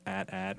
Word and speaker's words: AT-AT: pronunciation is that yes Lucasfilm has come out and said that it's pronounced at-at rhymes with hat hat or something yeah